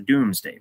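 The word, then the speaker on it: Domesday: the does day book it's spelled D o m s D- a y but it's the Doomsday Book and this is a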